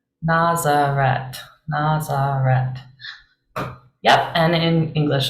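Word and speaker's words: Ναζαρέτ: opposed to in English the final sound is a a Tau rather than a Theta a th so in Greek here it's Nazareth Nazareth Nazareth yep and in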